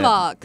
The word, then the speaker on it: Charlevoix: I'm from Charlevoix, Michigan, so it's Way up north. Yeah, way My up goodness. north. Another word that gets mispronounced often. Yeah, Charlevoix? What is that? Charlevoix.